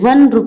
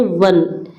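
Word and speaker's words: one: अब देखिए ये ओ जो है ये तो वोवेल साउंड है। ये तो मतलब वोवेल है। सॉरी वोवेल है। लेकिन इसकी जो साउंड हो रही है जो इसकी आवाज आ रही है तो व से वन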